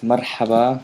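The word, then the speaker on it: مرحبا: So if you could write marhaba, phonetically, the way you hear it for now. Okay. Marhaba. And then you have ahlin. Yeah, ahlin. Marhaba, ahlin. This is the ha, marha, and then this normal approach.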